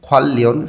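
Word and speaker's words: 관련: অহুই শব্দার্থের মধ্যে আমরা শিখব ইউহ্যাং ভ্রমণ, খোয়াল্লিয়ন সম্পর্কিত। নিউন ভাচ্ছিমের পরে রিউল আছে, দুইটাই লয় ল উচ্চারণ হবে, এটা ভাচ্ছিমের নিয়ম। খোয়াল্লিয়ন সম্পর্কিত অহুই শব্দার্থ।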